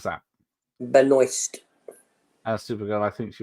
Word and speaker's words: Benoist: How do you pronounce that? Benoist.